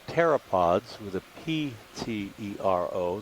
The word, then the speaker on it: pteropods: of what are called pteropods with a p-t-e-r-o the p is silent they are the shells